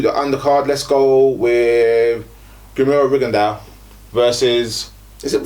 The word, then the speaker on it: Rigondeaux: Let's go with Rigondeaux versus. Is it Rigondeaux or Rigondeaux? You say Rigondeaux.